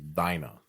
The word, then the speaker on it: Dinah: That's how you say it in Romanian, but it's Dinah.